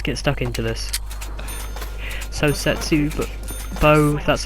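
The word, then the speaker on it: Zetsubou: So Setsu Bo, that's how you pronounce it, Noshima, is set on the historical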